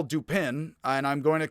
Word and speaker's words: Dupin: because i do think the pun dupin he is duping people so i'm just gonna call pose detective dupin from now on and i know and he expects his american audience to pronounce it similarly although he's from the south so he expects him to pronounce it differently from me but you get it